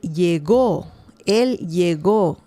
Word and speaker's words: llegó: It's a different pronunciation because in perfect past tense, you can say él llegó. He got somewhere, right? But this pronunciation is different. Yo llego. Llego. So it's two different pronunciations. The difference too is the accent mark. If you have an accent mark there, that's perfect tense.